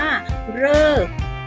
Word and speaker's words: ฤกษ์: ก็ คือ คำ ว่า ฤกษ์ เวลา เรา สะกด พันธุ์ นี้ เรา จะ สะกด ว่า รอ เออ ก่อ ฤกษ์ ใช่ ไหม คะ นั่น แสดง ว่า รอ รึ ออก เสียง เป็น เรอ นั่น เอง นะ คะ ซึ่ง มี